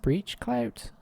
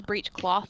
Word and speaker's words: breechclout: Breech clout. Oh. Oh, is it pronounced breechclout? Both. It's breechcloth or breechclout.